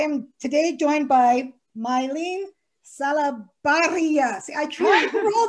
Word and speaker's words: Salabarria: It's Salabarria. It's the perfect last name to help you learn how to roll your R's in Spanish.